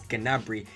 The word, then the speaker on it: Gnabry: I'm actually spelling his name wrong. It's Gnabry.